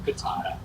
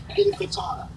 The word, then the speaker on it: Intifada: Am I pronouncing that correctly? Intifada. Right. Not enchilada, Intifada. Will do.